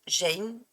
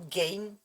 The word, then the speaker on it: Gein: Édouard Théodore Jane, ou Gain, ça s'écrit G-E-I-N, qui est aussi connu sous le nom du boucher de Plainville ou la goule de Plainville.